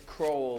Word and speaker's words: Crow: It's crow, like the bird Crow, crow, not as opposed to crow.